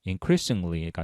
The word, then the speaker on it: increasingly: 자세히 보면 우선이 어 콤마콤마 안의 내용을 보면 increasingly가 나와 있는데 발음을 어 좀 조심해야 될 거 같습니다. incre리징ing글리 뭐 이렇게 발음을 하시면 안 되고 increasingly 이런 식으로 발음을 해야 합니다.